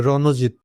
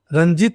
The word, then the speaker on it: রণজিৎ: উচ্চারণ এভাবে করতে হবে কিন্তু রণজিৎ, রঞ্জিত করলে হবে না, বা রণজিৎ গুহ।